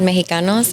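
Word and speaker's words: Mejicanos: It's called Mexicanos in El Salvador with the J.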